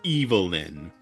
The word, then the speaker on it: Evelyn: B-word, and that's when Catherine blurts out Evelyn and he says it's pronounced Evil-lyn.